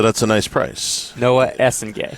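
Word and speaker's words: Essengue: Noah Essen Gay. Essen like Essen Lane and Gu.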